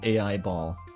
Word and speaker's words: Aiba: It is pronounced AI ball.